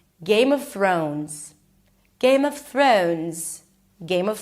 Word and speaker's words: Game of Thrones: Th So you can also prolong it for a little bit until you make sure that you pronounce the r sound correctly. Throw. O as in go. Make sure you add a w at the end. Throne. and add a Z. Thrones.